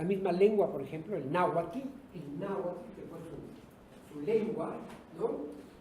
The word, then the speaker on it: náhuatl: Fíjense que esa composición TL del náhuatl es original, no existe en otro idioma, ¿no? Ninguna lengua tiene esa ¿no?